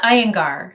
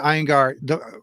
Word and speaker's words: Iyengar: Abria Iyengar. Thank you so much. I'm terrible at names. I apologize. Abria Iyengar.